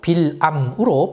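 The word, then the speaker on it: בלעם: 발람은 히브리어로 빌암으로 발음됩니다.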